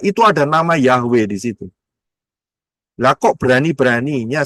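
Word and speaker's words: Yahweh: Kalau saudara lihat tulisannya adalah y he waw he. Itu tulisannya sebelah kiri. Bacanya dari kanan ya. Ingat bacanya dari kanan. Yod itu yang cuman kayak koma di atas yod. He w ya supaya gampang kita dengarnya dengan aksara alfabet ya. mengucapnya jelas yaitu Yahwe.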